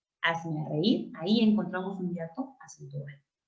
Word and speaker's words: reír: No es hazme reír, es hazme reír, con acento en la I, en la débil, en la cerrada.